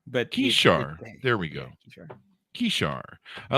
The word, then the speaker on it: Kishar: And do I have the pronunciation there rightly of Kishar? We call it Kishar, but Kishar. There we go. Kishar.